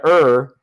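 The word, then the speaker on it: err: about Witnesses you gotta you gotta ER and that's how you pronounce it you gotta ER on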